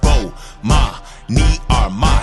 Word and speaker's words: Bomani Armah: to the morning announcements imma say my name so you can pronounce it oh ma me are my shout out to early